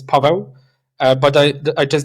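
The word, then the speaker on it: Paweł: So uh in Polish my name is Pavo.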